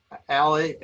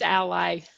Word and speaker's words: Ally: of works and again ali ali is that how you pronounce it it's ally ally okay it should be